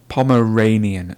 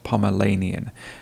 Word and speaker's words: Pomeranian: You'll see the word on the screen now, and that sound in the middle is not Lanian. Can you see my tongue? Lanian. It's actually Ranian. So it's Pomeranian, not Pomeranian.